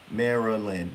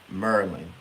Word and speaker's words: Maryland: It's just that we don't pronounce every syllable. Maryland would have three syllables. Maryland, Maryland, Maryland. We say Merlin. So we take a syllable away.